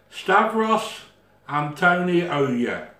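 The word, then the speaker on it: Stavros Antoniou: Steros Antonio. Yo. Now, my goddaughter has pronounced that absolutely superb. Stavros Antonio, it's spelled A-N-T-O-N-O-I-O-U, Stavros.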